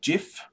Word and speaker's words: GIF: and one of those is that it is pronounced jiff now the creator came out and said that